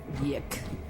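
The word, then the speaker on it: YIIK: at anything about it well the name is technically y2k it's it's spelled Y I I K and turns out Hyuk is a very very appropriate name for the game even if it's not the actual yick oh right my fries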